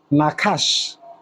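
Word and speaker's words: נחש: Now watch that serpent is is pronounced nakash.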